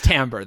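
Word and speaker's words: Timbre: follow Bentley kind of yes it is Tambor though I looked up the pronunciation unfortunate I'm just gonna keep saying timber great cool people who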